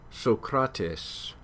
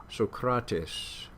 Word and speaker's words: Socrates: so protests so kratos you don't hear two s's any more than we do in a in a word like actress uh but what does happen is that that syllable gets held out a bit longer so socrates